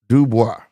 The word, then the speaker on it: Dubois: It's pronounced Dubois. Dubois. I ain't been saying that. I thought I was saying Dubois. Maybe not. But definitely French.